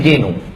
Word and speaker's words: Guénon: Tulisannya René Guénon, bacanya René Genoud. Karena orang Prancis tak bisa bilang R, René.